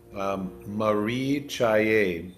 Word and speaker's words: caye: And we'll just touch on this special word we have for today, caye. If you want to look at your screen, I've shared something. The C is pronounced a CH in the transliteration.